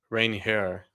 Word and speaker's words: Ranger: I think I think you technically pronounce it like rain hair. Like you rain hair Suarez.